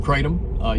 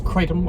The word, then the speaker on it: Kratom: would be shots of Kratom. You see them at the store. It's Kratom or Kratom. You'll see. They're pronounced two different ways.